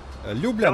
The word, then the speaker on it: Ljubljana: Ljubljana.